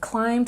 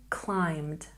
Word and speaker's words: climbed: We have climbed with the ed ending, makes the d sound. Say it with me. Climbed, climbed, climbed.